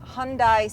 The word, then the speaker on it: Hyundai: today, let's get an update on our long-term Hyundai Sonata. Here are and Jake Lingeman. Hey, I'm riding shotgun here with Jake, and we're bringing you today our second quarter update on the long-term Hyundai Sonata.